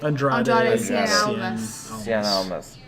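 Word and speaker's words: Andrade Cien Almas: Andrade Cien Cien Almas.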